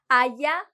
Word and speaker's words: allá: Allá, allá. Same sound, el mismo sonido. This one may be a tiny bit different. Allá. Con el acento en la última A.